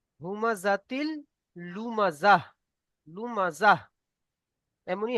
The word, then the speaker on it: لمزة: এটা সাকিন হয়ে হা হয়ে যাবে। হুমাজাতিল লুমাজাহ।